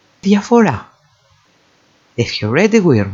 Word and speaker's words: διαφορά: Then we can actually put the emphasis on the second syllable from the end, διαφέρω, and then finally διαφορά takes the emphasis on the final syllable.